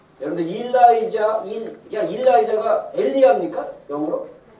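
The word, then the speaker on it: Elijah: 여러분들 일라이자가 엘리야입니까? 영어로? 엘리야인데 엘리야를 갖다가 이제 이렇게 발음 미국식 발음으로 일라이자라고 하는데 일라이자 체를 갖다가 딱 유튜브에 치면 몇 년생이죠 이 친구가?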